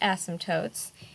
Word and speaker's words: asymptotes: called asymptotes it's a funky word but it's pronounced asymptotes and they are involved with rational functions and